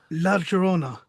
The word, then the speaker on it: La Llorona: So how do you pronounce that? The La Llorona. La Llorona.